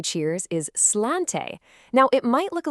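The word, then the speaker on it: sláinte: So, the Irish way to say cheers is slante. Now, it might look a little tricky, but it's pronounced slanchcha.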